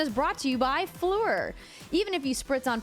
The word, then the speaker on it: Phlur: For luxurious perfumes that's all about good, clean fun, try Fleur. That's spelled P-H-L-U-R.